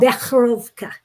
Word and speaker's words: Becherovka: Becherovka. What? Becherovka. It's a guttural sound.